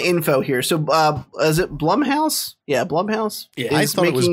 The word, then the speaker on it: Blumhouse: Because it's spelled BLUM, and that looks like Blum. It rhymes with cum. And plum. You wouldn't call it Coomhouse. We would call it Coomhouse, but this is definitely Blumhouse.